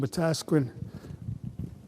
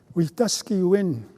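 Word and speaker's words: Wetaskiwin: For example, I sometimes say it's the most m mispronounced um city in Watasquin, Canada. Watasquin, Canada. It's actually a cre word, a daily reminder for us about what ought to be our goal.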